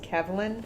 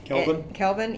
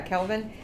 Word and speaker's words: Kelvin: measured on a temperature scale referred to as Kevin am i pronouncing that right Kelvin yeah Kelvin and there's seven different options here that they